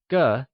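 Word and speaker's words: 个: Used for people as well as other general things, ge, spoken with a neutral tone, is one of the most important measure words in Mandarin.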